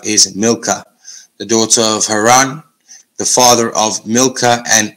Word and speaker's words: Haran: nahur and haran so there we see Abraham or Abram and haran that is the correct pronunciation for those terra's descendants now in